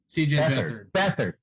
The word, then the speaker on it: Beathard: i have no idea who they're about cj beathard right sure yeah yeah bether thank you that's it that's it i know i remember it looks like beat hard but it's it's it's bad i recognize that